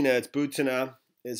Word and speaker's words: Butina: butanna butanna I learned that that it's not booty no that's butanna is how you pronounce it so you know she was in